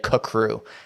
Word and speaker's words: CCRU: and at one point they say that it's pronounced kacrew crew that's how they write it out phonetically at one point i've never heard anyone say kakru and it just sounds a little weird so